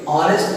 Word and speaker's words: honest: Because pronunciation of this honest is honest. It begins with o, not from h. honest नहीं बोलेंगे, honest बोलेंगे, और ये o जो है ये अ से अ के बीच में है।